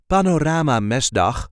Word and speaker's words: Panorama Mesdag: Panorama mdan M so there is a light emphasis on the first syllable of the second word Panorama m mesan mes Panorama mesd is a cylindrical painting